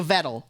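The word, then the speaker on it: Vedal: to be like rude it rhymes with pedal okay so vettle okay yeah if if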